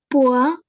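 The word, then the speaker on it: poids: It is always OI is always pronounced as OA without nasal sound. Okay, you pronounce the first word. Poa.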